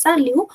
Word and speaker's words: salut: that you see at the end of a word you will make it silent. So T is not coming in the list of CR L. So we are making it silent. We are not pronouncing it and the whole pronunciation becomes sal which means hi or hello.